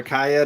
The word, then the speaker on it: Kaya: Last book is either Kaya or Kaya, depending on how you want to pronounce it. Yeah, I figured it was like Maya, so I've been saying it in my head is Kaya. Or kayak without the K on the end.